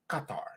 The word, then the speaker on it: Qatar: the team to Qatar or as the Arabs would say Qatar say it right so so it should